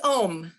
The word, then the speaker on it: Ogham: i'm pronouncing this right it's oh hum correct it's ohm um oh it's just like ohm okay i like that